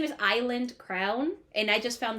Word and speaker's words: Isla: this spelling is that it actually spells Isla and Isla in Spanish means Island so if you think about it in a Spanish form her name is Island crown and I just